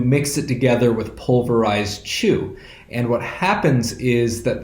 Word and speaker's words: qu: The secret ingredient for making any kind of traditional Chinese alcohol is something that's called chu. That's spelled Q-U.